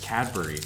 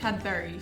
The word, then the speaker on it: Cadbury: So, also just found out the other day from a comment that Americans say the word B-U-R-Y. We say it funny. How do you say it? We say it like berry, apparently. Cadbury.